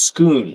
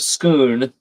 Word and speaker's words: Scone: And Charlie says it's pronounced Scoon, so Stone of Scoon, English, robbed it from the Scottish classic.